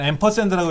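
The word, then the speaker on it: ampersand: 이건 앰퍼샌드라고 읽어요. 앰퍼샌드인데 다른 말로는 and라고도 해요. and.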